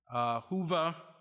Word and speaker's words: Whova: Their backgrounds are described on our convening app, Whova. I'm told that's the correct pronunciation.